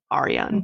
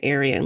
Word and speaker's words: Ariane: It's spelled Arian. Ariane. Okay. I'm not going to say Aryan like the Aryan nation.